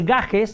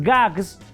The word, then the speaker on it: gags: En plural no se dice gajes. Aquí es gags. En vez de gajes.